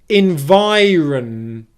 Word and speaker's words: environment: is environment environ environ again make sure vi is stressed and run is unstressed here run this syllable is going to be the weakest syllable in the word okay which means it's the quietest the quickest and produced with the least amount of force environment environ in